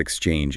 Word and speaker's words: exchange: It is two syllables. Exchange. Let's look at the first syllable, ex. It looks like an e and an x, but it really sounds like an e sound followed by a k and an s pushed forcefully together, ex.